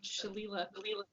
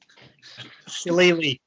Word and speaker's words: Shillelagh: I'd like to cast the cantrip Shalila, if that's how you say it. Shillelagh, but yeah.